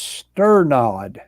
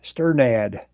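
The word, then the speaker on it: Strnad: do you say that it's pronounced stir nod sternad oh that makes sense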